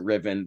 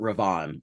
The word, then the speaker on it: Riven: Well, most people on Riven pronounce it Riven. The royal family pronounce it Rivan, of course.